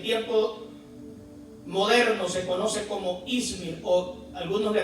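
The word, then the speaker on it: İzmir: ciudad en el tiempo moderno se conoce como izmir algunos le pronuncian izmir en anatolia Turquía y es la única ciudad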